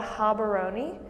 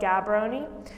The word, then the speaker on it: Gaborone: That's how it's spelled, Gaborone, but it's spelled Gaborone.